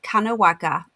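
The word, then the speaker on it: Kanagawa: black particles were discovered by pharmacists in japan's kanowaga that's how you say it prefecture on the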